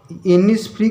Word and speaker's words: Innisfree: अब इनिस्फ्री का उच्चारण, प्रोनाउंसिएशन हनी बी जैसा है, जो तीसरी लाइन का लास्ट वर्ड है, इनिस्फ्री विथ हनी बी।